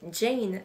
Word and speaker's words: Jane: l renard et moi qu'on aurait tendance à prononcer comme je vient de le faire mais quand on se met à lire l'histoire on se rend compte qu'il faudrait le prononcer Jane le renard et moi